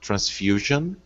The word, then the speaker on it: transfusion: right next up rafael uh transfusion three syllables and uh the stress syllable is on the fu and the rule is